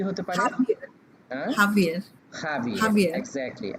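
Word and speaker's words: Javier: জে এ ভি আই ই আর, এটা উচ্চারণটা কি হতে পারে? হাভিয়ার হ্যাঁ, হাভিয়ার হাভিয়ের, হাভিয়ার এক্স্যাক্টলি, হাভিয়ের।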